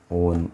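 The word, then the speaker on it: -one: और इसके लिए आपका जो ऑक्सो is used as a prefix and on is used, not called it as a one, it is pronounced it as a on is used as a suffix.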